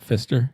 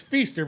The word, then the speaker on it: Feaster: Is it Feaster and not Fister? It's Feaster, but we call him Fister in the We call him sales Fister, Okay. yeah, because it's spelled like like a fist, like Gotcha.